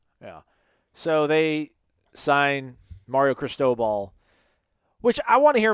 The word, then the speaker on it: Cristobal: it wrong like it's you guys make it sound like it's crystal ball like just crystal like cristobal i think it's like it's like the the name chris defer in spanish is like